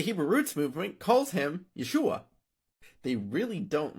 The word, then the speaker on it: Yeshua: this guy's Hebrew name it's pronounced either yesu or Yeshua depending on dialect Jesus probably pronounced his